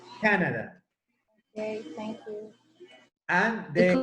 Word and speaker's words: Canada: In English, it's Canada. The accent goes in the first syllable. Canada.